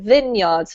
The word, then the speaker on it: vineyards: know it looks like vineyards but we actually pronounce it vineyards for some reason crazy english hey um okay